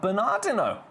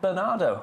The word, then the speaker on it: Bernardino: Allison in San Bernardo in San Bern Bernard Bernardino. I've never heard of that. I've never heard. I mean, I have, but I've I've never I've always said Bernardo.